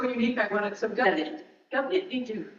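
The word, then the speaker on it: Gobnait Ní Dhuinn: Ni Goon. Think of Goon, like goo, goo, goo. So you don't pronounce the D. You pronounce it D-H. So in the Irish language, D and H together, pronounce it G.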